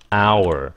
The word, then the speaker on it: our: Our, we chúng ta thì thành our. Nào cái chữ này phát âm á, là ao, cái xong rồi were.